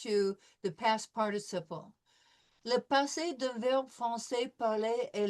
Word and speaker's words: passé: Every time we see an E with an accent aigu over it, it is going to be pronounced A. Le passé, composé, right?